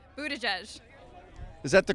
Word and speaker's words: Buttigieg: Oh, how do you pronounce Mayor Pete's last name? Buttigieg.